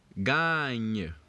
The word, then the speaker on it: gagne: Remember, ga is pronounced ga. So now, when you take ga plus the nye sound which you have at the end, remember is a G and E. Remember we said it is pronounced nye. So we have ga and nye, which gives us the word gagne.